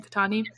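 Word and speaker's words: Qahtani: Their last name, Katani?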